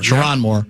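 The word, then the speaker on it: Sherrone Moore: Is that how he pronounced Moore? Chiron Moore.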